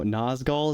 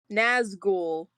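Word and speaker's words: Nazgûl: No, I know Nazgul is like a seagull, right? Sure, pal, sure. Well, it wouldn't be called a gull if it wasn't a seagull. Like, this is obvious. It's pronounced ghoul. Nazgul.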